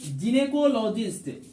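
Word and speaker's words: gynaecologist: एक होता है जिनेकोलॉजिस्ट, जिने जो है GYNAE, ए यहां साइलेंट रहता है।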